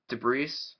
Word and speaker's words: debris: it searches out um debris debris dragon or debris Dragon I should say some people say you don't pronounce the S I like to pronounce the S but debris debris dragon